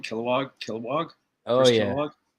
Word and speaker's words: Kilowog: which is pretty dope kilowatts is that how you say it that was kilowog kilowatts sorry guys my